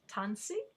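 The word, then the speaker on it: Tânisi: cree do you remember how to say it tanzi and of course we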